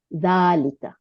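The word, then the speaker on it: ذلك: এটাই এখানে বলছে যে জালিকা ইজ প্রোনাউন্স জালিকা বাট ইট is written without আলিফ আচ্ছা দুই নম্বরে কি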